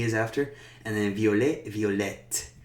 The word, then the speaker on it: violette: And then violet, violette. We pronounce that T when we put the E afterwards.